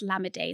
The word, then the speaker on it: Lamide: you pronounce the name cuz people will say like lamide and stuff like that no it's lammeday so that's what the e accent does but anyways um can